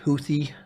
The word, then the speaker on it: Houthi: talking about you know is houthi I believe is how you say it right uh not a